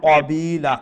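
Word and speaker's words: قبيلا: বিল্লাহি ওয়াল মালাইকাতি কাবিলা কাবিলা কাফ তো মোটা করে উচ্চারণ করা না নে কাবিলা জি আও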